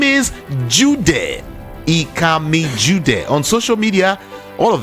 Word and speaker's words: Ikami Jude: Ikami Jude. On social media, all of them, just check. Ikami Jude. It's spelled IKAMIJUDEH.